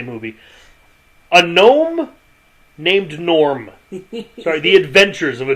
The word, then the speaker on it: Gnorm: movie a gnome named Norm sorry The Adventures of a gnome named Norm Norm is obviously spelled with a g y good that's what